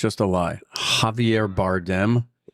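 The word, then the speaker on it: Javier Bardem: Javier Bardm. Uhhuh. Did I pronounce that right?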